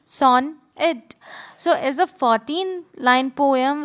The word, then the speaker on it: sonnet: A sonnet, pronounced son it, so is a 14-line poem with a fixed rhyme scheme.